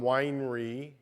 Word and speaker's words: Weinre: Um, so I'm going to be talking about um, winery and uh, and also some other other tools that are available and and up and coming.